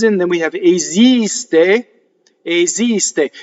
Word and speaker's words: esiste: So the next time nella fantasia comes in, then we have esiste, esiste. Here's another S word that you can speak, sing esiste. When you sing, you say esiste. It changes, right?